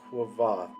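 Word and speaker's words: Kvothe: of times in my head, I would just pronounce it Quoth. But to try and create that quoth sound with the V, it's quoth.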